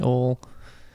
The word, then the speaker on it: Ohl: they all call me Ol. I feel like it's one of the easiest things you could say once it clicks. Ol. Ol, one syllable.